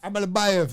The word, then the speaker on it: Almabayev: Almabayev.